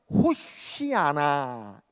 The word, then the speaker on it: 호산나: 흔들면서 호산나 아고 외치죠 여러분이 호산나 하는 말이 어떤 말이냐면 본토 발음으로 하면 호시하나 이렇게 부릅니다 호시하나이 말의 뜻은 우리가